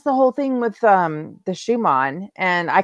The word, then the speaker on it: Schumann: I have a German heritage, and so like I know that man's name is pronounced Schumann from the German.